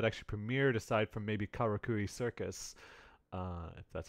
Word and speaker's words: Karakuri Circus: any shows that actually premiered aside from maybe karakuri circus that's how you pronounce it so yeah you got it yeah